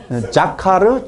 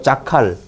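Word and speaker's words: זָכָר: 자카르, 자칼. 이렇게도 발음하는데 그 자카르는 뭐예요?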